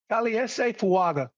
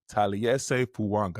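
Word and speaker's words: Taliese Fuaga: Can you pronounce the right tackle's name for me? I always butcher it. Tales Fanga. Tales Fuanga.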